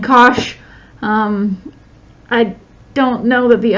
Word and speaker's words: cosh: and so forth now these two we pronounced cinch and cosh I don't know that